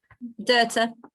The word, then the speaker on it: Doherty: Is it Doherty? Have I pronounced that right? Dirta. Yes.